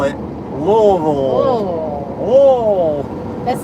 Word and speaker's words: Louisville: If you want to say Louisville like a native, you don't enunciate any part of it. You just make a noise from your throat.